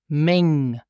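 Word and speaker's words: meng: yes m mom and listen also here for the pronunciation it's pronounced Ming Ming Ming and for plural nouns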